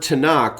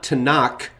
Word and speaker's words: Tanakh: The word Tanakh, which is an acronym for the Hebrew Bible, doesn't end with a hard K or a CH sound. So it's not Tanakh or Tanach.